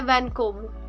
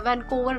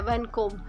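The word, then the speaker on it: Vancouver: और फाइव पे है वैनकोब। यहां पे आर जो है वह साइलेंट है। वैनकोवर नहीं है वैनकोब।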